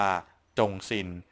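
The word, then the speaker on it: 忠心: ก็ จะ เป็น ตัว อักษร อ่าน ว่า จงซิน ซึ่ง หมาย ความ ว่า น้ำ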